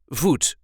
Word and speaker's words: voet: and this time we will see how to pronounce in a regular Dutch accent vot or fot in English this is how we